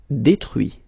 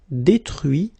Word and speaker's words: détruit: Détruire, détruit. Instruire, instruit. Okay, so you can notice that even if I put this final T, so as usual, I don't pronounce it. Okay, conduit, construit, cuit, détruit, instruit.